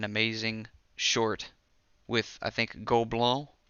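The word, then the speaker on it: Gobelins: short with, I think, Gobelin is how you pronounce it.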